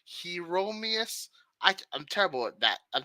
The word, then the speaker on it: Hieronymus: Hieronymus.